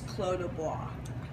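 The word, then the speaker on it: Clos du Bois: The way you pronounce it is Clos de Bois, okay? Just Clos de Bois. So the pronunciation could fool you.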